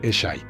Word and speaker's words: Eshe: Un pequeño detalle curioso para los australianos es que uno de los personajes se llama Eshe y se pronuncia Eshy.